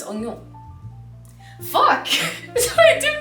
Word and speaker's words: oignon: I think it's just like the grands onions. Yeah, no, it's oignon.